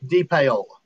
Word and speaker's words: DePaola: The way I used to tell people is when I was in radio, there was a term called payola. Yeah. And so I was like, think payola, because I'm in radio. And just put a D in front of it and just say D, and that's how you pronounce it.